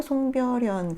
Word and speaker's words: 송별연: 이런 것도 송별연 같은 경우는 정말 외워야 되는 수준이죠. 송별연 이렇게 발음하지 않고요. 송별연 그냥 연음이 되는 상황이니까요.